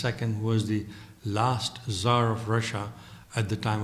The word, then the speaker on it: tsar: Ivan III was the first Russian ruler to give himself the title of Tsar, C-Z-A-R or T-S-A-R as it's written but pronounced Tsar.